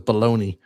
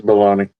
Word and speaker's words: Bologna: And and the cast other than the three I mentioned, Joseph Bologna, I guess that's how you say his name in it or is it Joseph Baloney? No, it is Bologna.